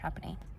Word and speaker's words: Trapani: I've been saying Trapani, but I'm pretty sure it's actually pronounced Trapani.